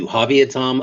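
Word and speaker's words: Yuhaaviatam: So, it's the Yuavia Tom of Sam Manuel Nation.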